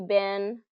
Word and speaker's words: been: en how have you been I've been to the store I've been to Europe it's pronounced more as b i n than be n so this is kind